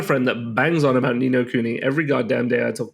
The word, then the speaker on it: Ni no Kuni: Now the next one, and I believe last week I pronounced it wrong, so I'm gonna try to do it right. Ni no Kuni? Yeah, Ni no Kuni, man.